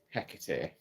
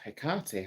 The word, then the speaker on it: Hecate: Hellenic or Greco-Roman deities, such as Hecate, or Hecate, however you want to pronounce it.